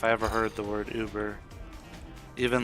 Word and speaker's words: Uber: When I first heard the word Uber from some native speakers, they pronounced it yuber. A while back I got the correction and it's actually pronounced Uber.